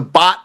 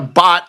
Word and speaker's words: baht: Like a baht is basically about roughly a half a troy ounce, roughly, right? Is a bot, right? And that's spelled BHAT. We're not talking about bots.